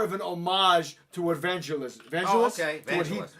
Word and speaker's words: Vangelis: Vangelis.